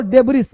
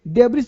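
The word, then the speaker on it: debris: अब देखो इसको बोलते हैं डेब्री, पता है क्यों, क्योंकि यहाँ जो वर्ड है बेटा ध्यान देना, यहाँ पे जो इस है ना डेब्रिस, ये साइलेंट होता है, तो डेब्री, डेब्री, डेब्रिस नहीं डेब्री।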